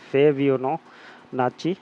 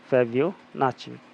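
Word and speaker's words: Fibonacci: कौन सी कहते हैं फेबिनो नाची सीरीज फेबियो नाची कुछ भी प्रोनाउंस कर सकते हैं जैसे आपके फेब नाकी कहते हो या फेब नाची कहते हो इस तरीके की सीरीज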